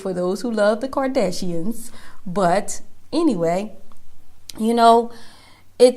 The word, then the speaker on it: Kardashians: to be the court doors but it's a Kadesh hands okay let me say it right y'all know I don't follow them sorry there's no shade no shade for those who love the Kardashians but anyway you know it takes a lot